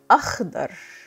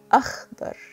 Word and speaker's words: أخضر: Next we have akhdar. Akhdar. You see here the KH is pronounced kh and the dad is D thickened.